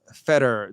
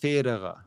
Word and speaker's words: Federer: of names was that people don't say Federer the right way, and it's pronounced Federer.